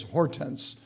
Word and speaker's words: Hortense: But her English pronunciation is Hortense. It's beautiful in French, but she doesn't like it in English so much, so we call her Horty.